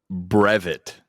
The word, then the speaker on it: brevet: The try trivia word is brevet. Brevet. I've heard this word. It's like Brexit. It's like Brexit. It's better. It's like coming back. Yeah, It's the anti-Brexit. the re-entry.